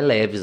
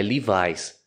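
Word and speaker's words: Levi's: marca de calça jeans não é leves lá lá é livis Nossa tem várias marcas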